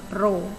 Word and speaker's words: rho: Ini adalah tanda seperti huruf P, kita bacanya rho.